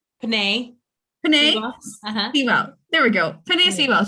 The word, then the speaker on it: Penei Sewell: The next one for me, I would say, was, I don't really know how you say his name, was Penei Sewell? Penei. Sewell.